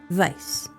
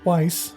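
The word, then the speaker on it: Weisz: I pronounced it correctly. Vice. No, it's Weiss. Nope. Looked it up. Vice. Okay. Okay. She's German, but she pronounces or I think everybody pronounces And everybody pronounces it wise, but um yeah, I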